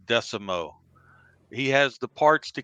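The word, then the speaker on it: Desormeaux: raging cajun last name if you look at it the spell but it pronounces pretty easy it's michael decimo he has the parts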